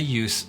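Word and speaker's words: Iooss: Now, let's look at some historical examples and other examples of the use of a pan. Someone that really comes to mind is very famous photographer named Walter Yuse Jr.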